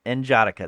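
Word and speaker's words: N'Jadaka: I'm not sure how to pronounce his name. Uh, Njadika. Njadaka, there we go.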